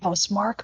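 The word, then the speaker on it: Housemarque: Is it House Marquee or House Mark? I would say Housemark, but honestly, it's not. Okay, Housemark. I think it's clear. Housemark, and I've heard that, and I said it wrong the first time for some reason.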